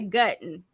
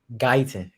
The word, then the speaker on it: Guyton: speaking like a true I always say your last name wrong I want to say gutten Guyton Guyton spoken like a true